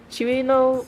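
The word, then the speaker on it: Cirno: it coo or Chino I think it's Chino because in a Chino's math class she pronounces herself as Chino she's like Chino math class Mario or something like that she pronounced herself as like Chino the ice fairy I want the toou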